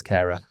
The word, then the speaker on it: Cara: but um Cara Jackson I would say Cara but I noticed on her Instagram she specifically writes Cara in terms of phonetically. So, so Cara it is um and and